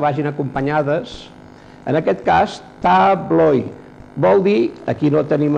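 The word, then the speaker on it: tabloj: Veiem que la tablo és la taula i la tabloi, les taules. Aquesta lletra té la pronunciació de i, tabloi, tabloi.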